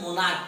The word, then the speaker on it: monarch: MONARCH से मोनार्क पढ़ा जाता है। मोनार्क का हिंदी होता है सम्राट। इसमें एस जोड़ के प्लूरल बनेगा क्योंकि इस CH का उच्चारण क है, क है तो एस जोड़ के प्लूरल बनेगा।